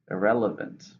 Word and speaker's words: irrelevant: you're discussing it's an adjective and it's four syllables stresses to them the first a sorry stress than the second irrelevant these documents are largely irrelevant so euro the